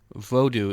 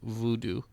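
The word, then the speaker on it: Vodou: music from Shay vodu apparently vodu is the the preferred pronunciation amongst practitioners of vodu as opposed to Voodoo um and uh yeah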